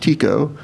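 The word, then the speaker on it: Tycho: only learned today that it's supposed to be pronounced tico it's always taiko to me but so he built this elaborate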